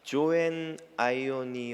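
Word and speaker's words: ζωὴν αἰώνιον: 생명을 영생 이라고 부릅니다 영생 이라고 번역된 헬라어 원어는 조앤 아이온이 용이라고 발음 하는데요 영적 생명을 의미하는 조에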